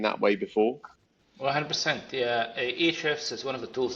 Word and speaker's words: Ahrefs: Like, how do you pronounce it? Yeah. Yeah. Yeah, Ahrefs.